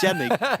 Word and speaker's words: YNCK: I mean, he says it's Yannick, but there's no way that YNCK is pronounced Yannick. To be fair, I mean, I know SetToDestroyX obviously mentioned Yanko yesterday, and I remember when I started doing PUBG, I called him Yanko as well.